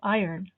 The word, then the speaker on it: iron: treatment that minimizes wrinkles notice the american pronunciation of iron to air one's dirty